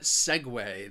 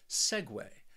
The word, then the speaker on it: segue: make a smooth transition the reason why this word you know people have trouble with it is because of that spelling that second syllable is pronounced way segue the next word that